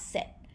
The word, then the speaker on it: เสร็จ: what is it exactly this word is actually pronounced low tone means finish and the way you use it you use verb plus set for example i finished